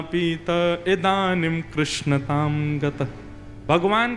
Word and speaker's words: कृष्ण: लाल की जय बंधुओं कई लोग इस नाम को अशुद्ध बोलते हैं कई लोग कृष्ण बोलते हैं कई लोग कृष्ण बोलते हैं कोई कृष्णा बोलता है भगवान का नाम शुद्ध उच्चारण करो नाम क्या है कृष्ण भगवान जय श्री